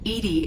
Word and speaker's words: EDI: are your name Edie Edie is the phonetic pronunciation of EDI that is an acronym for enhanced defense intelligence equals to throw what